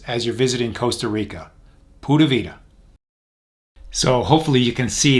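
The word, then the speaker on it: pura vida: Rica is their motto that's printed here is pronounced pavita and it just means Pure Life it's a great way to look at things as you're visiting Costa Rica pavita so hopefully you can see that Costa Rica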